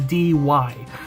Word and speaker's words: Dy: and last name is dy it's pronounced D but I like it mostly because when people see my name for the first time they don't know how to pronounce it and they think it's like died or something like that I remember that like